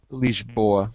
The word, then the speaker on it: Lisboa: I should have said Lisboa because that's actually how you say it, but I said Lisbon in English.